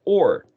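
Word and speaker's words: אור: So there's a prefix and a suffix of Tav, and then the word Vav, Resh, pronounced or, in the middle.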